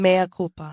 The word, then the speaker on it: mea culpa: Is that how they say it? Mea culpa. Yeah, that's it.